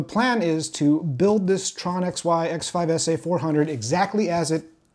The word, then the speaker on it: Tronxy: a new 3d printer this is the tron xy sometimes pronounced trunksy x5sa 400 millimeter core